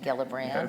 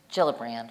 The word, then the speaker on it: Gillibrand: uh my Senator Kirsten gillibrand has uh introduced legislation Jill brand right I said her name wrong sorry Pearson but anyway